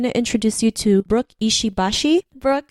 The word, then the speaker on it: Ishibashi: mono cabit you know no no stress on the syllables and I I I've